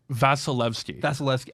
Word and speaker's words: Vasilevsky: Vasilevsky. Oh, I knew that. Damn it. It's like Vaseline, but Evsky. Vasilevsky.